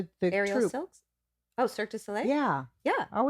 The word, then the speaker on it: Cirque du Soleil: Oh, Cirque du Soleil? Yeah. Yeah. I said it wrong once, and that's how it sticks in my mind. Circus du Soleil.